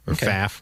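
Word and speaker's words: Pfaff: okay by the way he has a silent P it's PF F so PA faf Whatever May lar Larry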